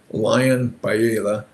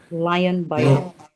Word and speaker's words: Leon Biela: His name is pronounced Lion Baila. Lion Biela.